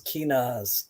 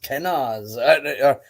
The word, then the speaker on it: Kenaz: Yes, Kenaz. Kenn, however, again, pronunciation. Um, this this rune is probably the first rune that really throws people for a loop. Um, so the the most common used name is Kenaz.